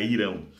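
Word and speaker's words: Hirão: relatos a respeito de irão com h né ou riram mas a pronúncia com h irão é um monarca respeitado e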